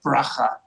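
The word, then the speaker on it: בְּרָכָה: very nice very nice but in you know very natural fast flowing Hebrew it would end up sounding like bracha and and you would barely notice the schwa at all you'd go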